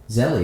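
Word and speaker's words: Zelle: anything send money Z zeli it's like a thing bank to bank type money the last e is silent I don't know that so it's zel well you know unlike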